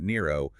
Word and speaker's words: Nero: If you are a Latin-speaking Christian, you don't pronounce it Neron Caesar, you say Nero Caesar.